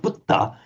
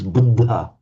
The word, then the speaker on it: Buddha: So you might hear it as buddha which the in native Indians speak say hang on that's just not wrong it's not budda it's buddha but okay that that